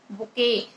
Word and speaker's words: bouquet: बुके।